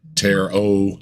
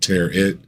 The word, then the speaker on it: tarot: I said Bob uh it's ter o not te it he he he's pronouncing it like carrot and uh it's precious